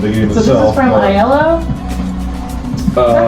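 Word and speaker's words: IELLO: game this is from iell is that how you say that uh I usually pronounce it like the color like yellow yellow okay um it's from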